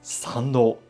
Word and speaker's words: 産道: The path to the main shrine, which one walks after passing through the torii gate, is called Sando, which is pronounced exactly the same as Sando, birth canal.